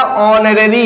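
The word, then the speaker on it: honorary: ये बेटा ऑनररी है। कभी भी एच के बाद यदि ओ आता है, एच के बाद यदि ओ आता है तो एच साइलेंट हो जाता है।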